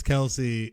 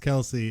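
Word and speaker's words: Kelce: not know uh travis kelsey his last name is not pronounced kelsey it's just kels what yes but he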